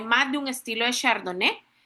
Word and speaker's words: Chardonnay: Si se han si me han escuchado en estos minutos atrás, yo no he dicho Chardonai, así como se escribe, sino que se pronuncia chardone, así como lo ven en pantalla, chardoné.